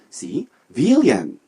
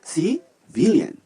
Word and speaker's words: civilian: 강세가 뒤에 있어요. 뒤에 가운데 I에 있어요. civilian. 함께요. civilian.